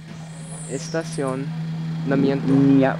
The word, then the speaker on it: estacionamiento: Estacionamiento, which means establishment. Estacionamiento. Which sign? Estacion. Estacionamiento. Estacionamiento.